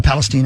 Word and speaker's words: Palestine: derailment in East Palestine a Palestine actually is how you say it um where a Norfolk